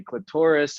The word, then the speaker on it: clitoris: i've gotten to say clitoris on stream so welcome to romance guys and i have to say it like that because it rhymes with dolores so i have to